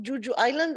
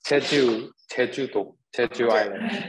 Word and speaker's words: Jeju Island: For JJ, I mean, I love Juju Island. Am I pronouncing it right? Juju Island? I like your way of saying it, Dina. How do you say that, JJ? It's Jeju Island.